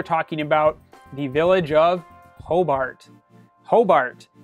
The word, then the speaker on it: Hobart: more time auberg um if you're looking for the city of hobert i have no idea how to help you we call it hobart as far as i